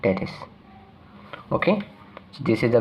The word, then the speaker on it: teres: are the two heads of brunette that is pronounced teres okay so this is the brachioradialis and these